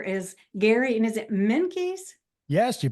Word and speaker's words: Menkes: wonderful gentleman here is Gary and is it minky yes you pronounced it right for first time right um